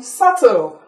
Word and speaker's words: subtle: Then I'll give you the last one, subtle. S-U-B-T-L-E. Can you all pronounce it?